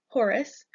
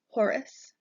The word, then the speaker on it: Horus: chaos next we have Horus Horus sounds like the word horse but within us at the end Horus Horus is the divine